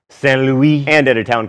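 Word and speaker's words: Saint-Louis: a trading post called St Louis Stan Don't make me say it right fine St Louis and at a town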